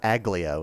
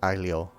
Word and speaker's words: aglio: So it's like it's not aglio. It's like aglio. Just like kind of barely mention the G.